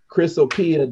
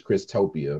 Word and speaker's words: Chrysopia: But he says, first, Chrysopia doesn't have a T in it. I thought it was Christopia, my bad. It said it doesn't have a T in it.